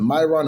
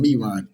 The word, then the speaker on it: Miron: name to eric myron i believe it's pronounced either myron and me ryan m-i-r-o-n we're going to say myron he explained the change